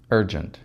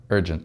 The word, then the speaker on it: urgent: Мы произносим звук «р», «дж», «джент», «urgent», «urgent». И в конце безударный звук у нас гласный, вы знаете, это звук шва. Когда очень-очень слабый звук, он теряет свою полную силу «nt».